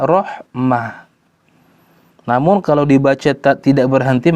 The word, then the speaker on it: رحمة: Misalkan kalimat rahmat, ya, kalau ditulis dengan tak maftuha berhentinya rahmat. Kalau ditulis dengan tak marbutoh maka bacanya rahmah.